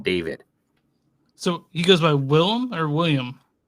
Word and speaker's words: Willem: William Dafoe. Willem Dafoe.